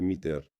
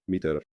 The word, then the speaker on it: METR: Se escribe M-E-T-R, MITRE. no es meta como meta. No es meta como meta, sino metro, MITRE.